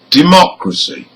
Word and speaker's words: democracy: Now here, for words ending in CY, TY, PHY and GY, the stressed syllable is the third from the end. Third from the end. So let's hear some examples. Number 1, democracy.